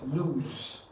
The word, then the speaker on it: lose: So this word is pronounced as lean, O and Z, that is lose. It's pronounced as what? Lose.